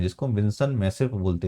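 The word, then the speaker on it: Vinson Massif: विंसन मेसिप बोलते हैं जिसको हम विंसन मैसिव बोलते हैं। ठीक है? इसको स्पेलिंग जो है मैं यहां पर लिख देता हूं।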